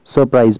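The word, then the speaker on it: surprise: करना होता है हमें, हालांकि इसको आप पढ़ते तो हम सरप्राइज हैं, लेकिन यहां पे R जो है थोड़ा सा साइलेंट रहता है, इसलिए हम इसको सरप्राइज पढ़ते हैं, ओके ओके।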